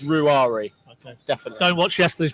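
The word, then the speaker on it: Ruairi: for mcconville's first name ruari ruari why do we have to get that right I'm told his mom gets a little bit upset if if people call him Rory so it's ruari okay definitely don't watch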